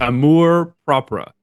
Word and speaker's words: amour propre: And Google said it's amour propre. That's what Google said. So I'm going with that.